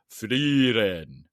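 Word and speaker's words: Frieren: Freiren is how they say pronunciation.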